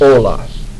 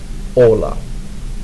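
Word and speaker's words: hola: the first word is Ola pronounce it with me Ola notice that the H is silent that word means hello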